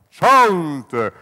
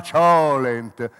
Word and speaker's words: cholent: Chont, monumentale stufato di manzo, si pronuncia chont. Chi lo chiama cholent lo conosce poco e secondo me non c'è da fidarsi, Ugo, come te.